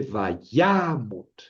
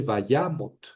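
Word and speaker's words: וַיָּמָת: Tenemos aquí al final una sílaba cerrada sin tonos átona. Entonces, en realidad dice, "Vayamot, vayamos. Síaba cerrada sin acento."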